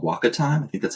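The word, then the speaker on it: WakaTime: then further from there discovered this service called Waka time I think that's how you pronounce it and so it's actually like an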